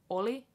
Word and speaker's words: Olli: Finnish boy named Olli it's short just stay on the L for a little bit only not only cuz that was like was it means was Olli versus all only only only so you just stay on the L for a little longer only right and then yo